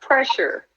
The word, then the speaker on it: PressHer: me crazy I'm like just put it together just mash it together it's pressure um so